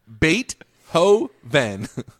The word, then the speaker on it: Beethoven: Duke do a Beethoven Beethoven Beethoven bait no look at this pronunciation submitted that's Perth Australia there well yeah but like let's just let's just go from having been on the earth for 40 years pronunciation bate ho van Beethoven that's what we've been